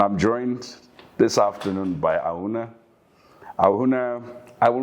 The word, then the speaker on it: Ahunna: So, actually, Auna is how my name is pronounced. It means Auna. Auna. It means the body of the father.